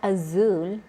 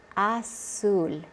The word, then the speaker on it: azul: In most of Latin America, the Z is pronounced like an S. So it's not zapatos, it's zapatos. It's not azul, it's azul.